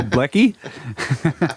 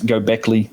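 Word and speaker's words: Göbekli: a good boy no blekie blekie yeah that's what people get mad at me for saying it's Gobekli definitely I'm working on that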